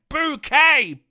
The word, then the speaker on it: Bouquet: woman microwaving the tea it's pronounced bouquet Brian keep up them